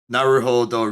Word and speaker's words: Naruhodo: Oh, I now see that the thing in parentheses on the second line is Naruhodo Ryuichi, which is telling us how to pronounce his name.